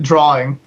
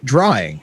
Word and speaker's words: drawing: How do you say drawing? Drawing. Yeah. So drawing. It's not drawing. There's no extra R in there.